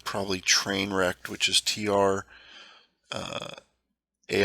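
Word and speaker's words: Trainwreckd: be cool with the name of the channel train wrecked comic fandom for life most people can't pronounce the train wreck right it's usually they'll say train wreck d train wreck d let me do just a little more here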